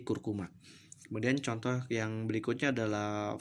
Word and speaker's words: curcuma: Kemudian ada curcuma, tulisannya curcuma, maka diucapkannya menjadi kurkuma.